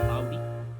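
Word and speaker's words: Audi: और अगला ब्रांड है ऑडी, और यू कैन से आउडी। काफ़ी लोग इसे एक्चुअल प्रोनाउंसिएशन अगर आप देखोगे तो आउडी है, तो काफ़ी लोग ऑडी भी कहते हैं।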